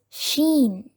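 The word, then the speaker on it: ش: There is another letter similar to the letter Seen, that is Sheen. Sheen. The original sound of this letter is Sh. Sh.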